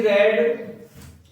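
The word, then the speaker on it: read: क्या लिखा है सी रेड इसको हम रीड भी पढ़ते रेड भी पढ़ते जब सेकंड और थर्ड फम होता है तो क्या पढ़ते है इसको रेड पढ़ते ठीक है सी रेड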